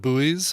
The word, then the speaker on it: buoy: And he's like, I pronounce it like boy.